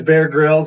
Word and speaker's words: Bear Grylls: It's Bear Grylls or Griles? How do you say that? His name is Bear Grylls, and for some of you other TV buffs, Mr.